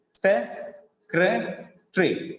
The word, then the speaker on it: secretary: When we read like this, the number of syllables will be decreased to three. Se-cre-tree. Se-cre-tree. So it has only three syllables. If we go by the spelling of that word, we will count it as four syllable word, but actually it is three syllable word, trisyllabic word.